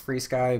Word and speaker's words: FrSky: search for FR sky it's pronounced free sky but that's how they spell it and you will find